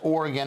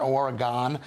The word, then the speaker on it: Oregon: workplace and this is in Oregon which is pronounced Oregon not Oregon and I've been there it's a fantastic State